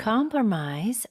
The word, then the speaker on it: compromise: Compromise with someone. 네. 지금 세리나쌤 발음 여러분 들으셨죠? 뒤에 pr O가 나오니까 어, 이거 약속이네. 이러면서 promise라고 읽으시면 안 됩니다.